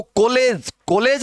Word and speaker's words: कॉलेज: इसको कॉलेज नहीं है, कॉलेज, डॉक्टर, कॉलेज।